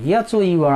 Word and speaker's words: hour: Look at another word, hour, H-O-U-R, hour.